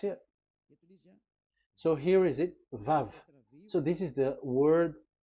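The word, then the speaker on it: ו: So it's V as in Vogue. So it's really V. How to read Vogue? So the word, the shape Vav is really pronounced V, like Vogue. That is it, pronunciation. So here in this side, it's pronunciation. This is pronunciation. So according to the old Hebrew word today, those who the owner of the word, I mean, so it's a V. So don't change it into W, and you will say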